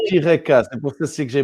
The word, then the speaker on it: Eureka: Ça se Ah, prononce. Eureka.